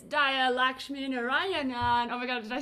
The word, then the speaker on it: Lakshminarayanan: language tamil is pronounced lakshmi narayanan and so that's really hard for non-native tamil speakers to say because you kind of have to roll an r you have to put